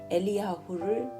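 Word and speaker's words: אליהו: 오늘날 성경 번역에서는 히브리 발음인 엘리야후를 본떠 엘리야라고 표기합니다.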